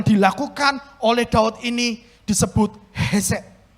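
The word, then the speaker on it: חסד: Dalam bahasa asli, kebaikan yang dilakukan oleh Daud ini disebut hesed. Hesed, itu harus membacanya seperti itu.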